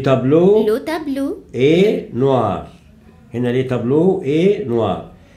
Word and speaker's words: tableau: هنا le tableau est noir. أول واحدة le tableau هنا ال A و ال E قلنا تنطق إيه O.